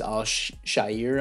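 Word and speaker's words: Al-Shaair: in free agency um Aziz I'll Shire I believe is how you pronounce it not bad depth how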